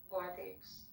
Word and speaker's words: Guadix: Guadix Al-Andalus, I don't know how to pronounce that. Guadix. Share his name. Guadix.